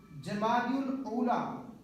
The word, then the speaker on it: جمادی الاولیٰ: الاخریٰ کہا جاتا ہے۔ لغت کے اعتبار سے ان 2 مہینوں کے نام، درست نام اور صحیح تلفظ یہ ہیں، جمادی الاولیٰ اور جمادی الاخریٰ۔ اور یہ پیارے پیارے